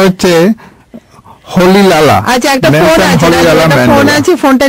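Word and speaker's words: Rolihlahla: এয়ারে এটার উচ্চারণটা হচ্ছে হলি লালা।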